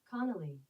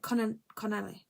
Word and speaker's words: Connolly: I'm gonna search how to say his name because I don't want to say it the wrong way. Play it, this one. Playing from iPhone 79. Connolly. I said Connelly.